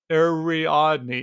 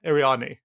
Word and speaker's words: Ariadne: Ariadne. Yeah, Ariadne.